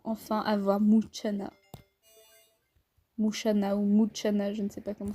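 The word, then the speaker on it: Mushana: Mouchana ou Mouchana, je ne sais pas comment ça se prononce. Mais... je dirais que c'est Mouchana parce que quand on dit Ocha, enfin ce qui est C-H-A, Ocha, en japonais, et ça veut dire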